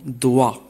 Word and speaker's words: doigt: G ne se prononce pas dans certains mots comme dans doigt. Doigt.